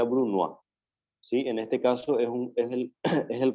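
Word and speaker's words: brunoise: el bruno a chip se escribe bruno jce se pronuncia bruno a sí en este caso es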